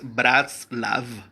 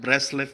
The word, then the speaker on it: Bratslav: Y cuando pronunciamos la A como la E en inglés, entonces suena como Bratslav. Pero en sí el nombre es Bratslav. Y no hay ningún problema que le diga Braslav, Breslev, Breslov.